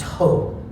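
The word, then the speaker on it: ὁ: of the definite article it looks like the letter O and it has a rough breathing symbol and it's pronounced ho and so you see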